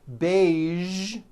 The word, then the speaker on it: beige: television very good now there are only a few words that have the voiced zh sound at the end a few of these words are the color beige the word massage and the word prestige okay now that you